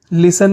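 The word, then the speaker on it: listen: dance सुनना लिसन लिसन लिसन में T silent होता है बाहर निकलना एग्जिट एग्जिट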